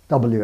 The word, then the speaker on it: Ł: spell Polish names properly with this special L character, which is pronounced W.